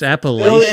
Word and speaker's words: Appalachia: Damn Bill know how to pronounce it's Appalachia.